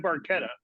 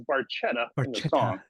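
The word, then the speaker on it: Barchetta: is red Baretta and I I don't say red barquetta because Getty Lee says Baretta yeah he's not Italian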